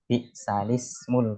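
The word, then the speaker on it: بئس الاسم: Kalau tulisannya kan bi'sal ismu, tapi bacanya bi'salismul fusuqu ba'dal iman.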